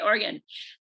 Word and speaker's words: Oregon: i saying it right you are yes okay oregon thank you for joining us today julie and